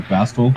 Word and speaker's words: Bastl: It's like maybe is it like Castle or Bastl? Yeah, I think it's Bastl. Like that's how I say it. I pronounce the T.